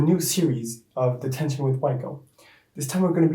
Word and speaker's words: WYKO: It's pronounced WYKO here in Portugal, and that's how people call me here.